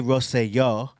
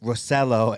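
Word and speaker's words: Rosselló: on it former member Roy rosayo or rosello as American people pronounce it spoke out about founder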